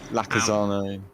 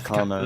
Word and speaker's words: Lazcano: Lacazano. Yeah. No, that's not how you say his name. Sorry. I think it's Lazcano. Lazcano, yeah, Lazcano.